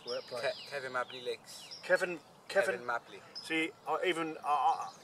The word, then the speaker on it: Cefn Mably: Stefan, how do you pronounce this word place? Kevin Mabley Lakes. Kevin Mabley. See, Kevin Mabley. Now I know what that is. See, now spelled actually C-E-S, so I've been calling it Stefan Melby.